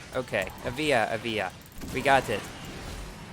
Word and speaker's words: Evija: I said it right the first time so a via ok a via a via we got it I hopefully will